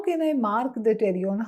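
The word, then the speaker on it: pterion: which is called as terion please don't say the word p the letter P it is silent it's called as terion question is what is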